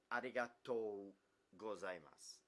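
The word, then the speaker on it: ありがとうございます: arigatou gozaimasu. There's a t-o-u, so it's arigatou gozaimasu.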